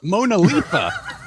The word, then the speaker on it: MoNoLiFa: I was like, it's kind of a hard to pronounce acronym. And a participant came up, "No, it's great. You can call it MoNoLiFa."